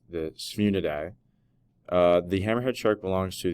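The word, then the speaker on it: Sphyrnidae: The scientific name for the hammerhead shark is pronounced the Sphunidae.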